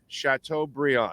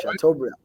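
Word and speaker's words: Chateaubriand: I'm gon sh b instead of Brian it's pronounced Brian okay chatau Brion okay so there you go Bri house Brian chatau Brion there you go okay okay okay chatau Brion got it I have a cousin named Brian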